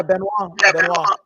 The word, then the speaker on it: Benoit: Yeah, Benoit.